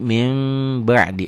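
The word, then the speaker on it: من بعد: praktik di Quran kelihatan jadi min ba'di dibacanya jadi mim ba'di Apa hukumnya iqlab Kenapa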